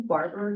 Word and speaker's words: Barber: name is Irish like Irish Spring Barber like Barbershop I know you asked